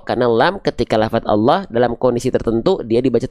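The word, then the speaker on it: الله: Kalau bacaan Allah tebal enggak? Iya. Bacaan Allah lamnya dibaca tebal.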